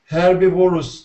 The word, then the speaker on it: herbivorous: diets, and others raise herbivorous species that require mostly plant-based feeds. Okay. Excellent, great job. Just carnivorous is the pronunciation, and herbivorous.